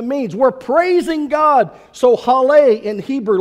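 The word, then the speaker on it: הלל: for praise is pronounced Haleh Haleh interestingly enough it sounds just like our word hallelujah hallelujah it's praise that's what hallelujah means we're praising God so Haleh in Hebrew like hallelujah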